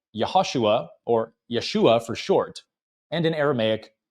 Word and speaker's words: Yeshua: the name, saying it Jesua. But in Hebrew, Yeshua's name ends with a guttural letter, the ain, which means that the accented symbol is at the end, not the beginning of the name.